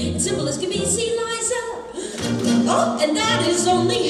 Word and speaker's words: Liza: It's Liza with a Z, not Lisa with an S, cause Lisa with an S goes snuzz.